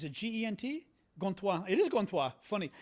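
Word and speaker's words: Gantois: How do you spell it in French? Is it G-E-N-T? Gontois. It is Gontois.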